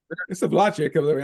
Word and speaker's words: Slovacek: It's Slovacek. I know. I see their ads on television for their sausage. Yeah. Yeah, Slovacek. Slovacek. Yeah, how you pronounce it?